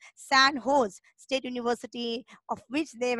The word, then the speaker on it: San Jose: origin no recently the San Jose pronounce San hose State University of which